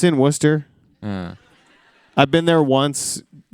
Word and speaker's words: Worcester: How do you say Worcester?